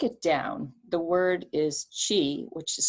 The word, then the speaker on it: qi: if you break it down the word is qi which is spelled q-i or maybe spelled c-h-i um and then gong g-o-n-g so the chi